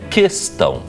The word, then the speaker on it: questão: Segundo que o U não é pronunciado. Então a palavra é questão.